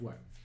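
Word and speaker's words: wyrm: It's pronounced worm.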